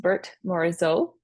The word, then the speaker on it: Berthe Morisot: gonna go over today Bert morizo um that is how you pronounce her name looks like Bertha but uh she's French it's pronounced Bert morizo she is the first